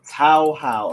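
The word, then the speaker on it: Touhou: Tao How. Okay, I downloaded Tao How 7 and 8, and so far I'm really enjoying both of them.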